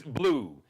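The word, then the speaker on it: Bleu: Hendrix spelled with an X, like Jimi Hendrix. Hendrix Blue, B-L-E-U, Hendrix Blue Vaughn.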